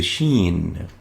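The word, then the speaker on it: ش: top of it and it is equivalent to the combination of the s and h in english and it's pronounced as shh shh as in fish shh it articulates at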